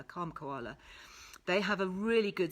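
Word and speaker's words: Kalm Koala: have a look so calm koala which is spelt k-a-l-m as in calm k for koala kom koala they have a really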